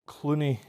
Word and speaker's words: Clunie: Clooney. Is Clooney the correct pronunciation? Yes.